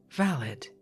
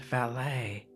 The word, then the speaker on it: valet: The valet. The valet, pronounced valot, not valet, is what Bo Brummel called a gentleman's gentleman.